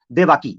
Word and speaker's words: देवकी: उसकी एक बीवी थी जिस बीवी का नाम था देवाकी, या देवकी उसे कह सकते हैं, ये देवकी कह सकते हैं, ये देवाकी कह सकते हैं, ऐसी तरह प्रोनाउंसिएशन है, देवाकी या देवकी।